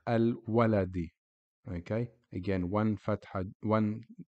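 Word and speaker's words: الولد: And when Alif Lam is applied to the beginning of the word, or when you see it in the beginning of the word, it is pronounced Al-Waladi.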